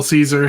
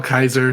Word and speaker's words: Caesar: howdy hail Caesar yes hail Caesar hail Kaiser dep depends on what faction you're from in the Fallout Universe on how to pronounce it but just like what